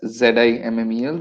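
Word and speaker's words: Simmel: uh george zimmel um it's spelt as s-i-m-m-e-l pronounced as z-i mmel zimmel so again a german german sociologist according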